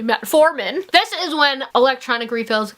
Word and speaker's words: metformin: For example, metamorphin. It's actually metformin.